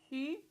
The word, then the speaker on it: Xu: Xu. So the X makes a sh sound.